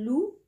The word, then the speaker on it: loup: Ou hada, dhi'bun, le loup. D'accord? Un loup. Ça s'écrit avec un P, mais on ne le prononce pas.